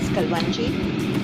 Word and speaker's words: kalonji: And this is kalonji. Some people pronounce it as kalwanji.